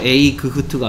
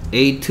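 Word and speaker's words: eight: 브루스가 와이트 된거예요 됐으니까 에이트 는 어떤 소리가 이념의 데이 a 그 트일 것 같은 내일을 둘이 가 소리가 안나는 거야 그러니까 그래서 a 그 트가 아니고 에이트 라고 발음하고 에 이 소리 안 나라 주위에 지 나오고 트 된겁니다 이렇게 금 8번째 는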